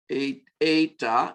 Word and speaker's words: eta: sound, e, epsilon, zeta, eta is another vowel, and it is a long E sound, or actually a long A sound, as in, I can't think of an English word.